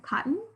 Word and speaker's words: cotton: pants are made of cotton that second syllable very clearly is a schwa spelled with oh we don't say cotton we say cotton depth the scientists will